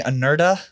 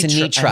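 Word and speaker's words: Anetra: We were saying Anerta. No, it's Anitra. Anitra. Sugar I- and Spice. I was on Celebrex, but now I'm on 1,000 milligrams of Anitra, and I feel so much better.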